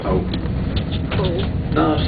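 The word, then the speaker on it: Howth: is about h w t h and that's pronounced hold not house now hold and the reason it's pronounced hold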